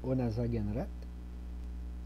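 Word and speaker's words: Onasakenrat: Le K, on le prononce comme un G. Onasagenrat.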